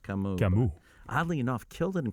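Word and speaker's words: Camus: him and French and his name is pronounced kamuu oddly enough killed in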